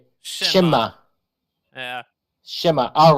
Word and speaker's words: Cześć: Shema.